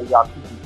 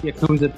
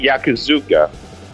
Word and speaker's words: Yakuza: And I kept saying the name wrong. You know what I kept saying? What did you say? I kept saying Yakuzuka.